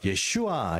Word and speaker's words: 예슈아: 예수님을 저주한다 그래요 그래서 우리가 예슈아 이렇게 발음을 하면 예수님의 어 하나님은 구원이시다 말 말이 되지만 예수 이렇게 얘기하면 그 저주받은 자 이런 뜻이요 그래서 우리가 히브리 말 제가